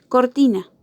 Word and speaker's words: cortina: En estas tres sílabas, en cuál de las tres está la sílaba que tiene más intensidad. Ti, ¿verdad? Entonces sabemos que ti va a ser la sílaba tónica de la palabra.